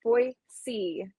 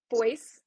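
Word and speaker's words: Boise: the poll results and the correct answer is that it is pronounced boy C um uh yes so that is I am from boyy Idaho um and the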